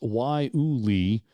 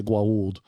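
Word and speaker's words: guayule: say it it is it's spelled g-u-a-y-u-l-e it's pronounced why Uli although it looks like or or for you Stargate sg1 fans out there it looks like I want to say guaulude let's see if I can say this now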